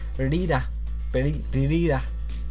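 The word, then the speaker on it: リリーラ: And its Japanese name is spelled Lilila, so Lili-la, just like that, but because of how Japanese pronounce L's, it's actually something like Rira. That's basically, I can't speak Japanese, but Rira, something like that.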